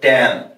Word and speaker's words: tan: a + sin a এটা তোমরা অনেকে সি উচ্চারণ করে নট সিন আর এটা টান না এটা টান টি এন টান টান এ প্লাস সাইন